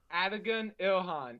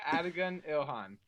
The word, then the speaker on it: Adigun Ilhan: Adigun Ilhan. It actually is pronounced the exact way it's spelled. Awesome. Okay, we might have got that one right for once then. No weird stuff. Yeah, Adigun Ilhan.